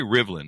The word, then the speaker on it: Rivlin: Gary Rivlin is on the show with us today. Gary, did I get your last name pronounced correctly?